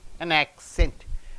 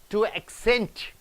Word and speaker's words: accent: to be a noun when it comes as a noun the first syllable should be stressed see here an accent and accent you have to stress on ack accent suppose if it